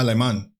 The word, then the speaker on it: Alemán: The Romans also used the word Alemanni to describe a confederation of Germany. That's how you say it in Spanish. Yeah. Alemán.